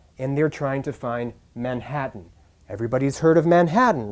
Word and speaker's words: Manhattan: If the French person were to remember to put the stress in the right place and pronounce Manhattan, Manhattan, instead of Manhattan, Manhattan, where the rhythm is stressed on the last syllable, the native would understand them.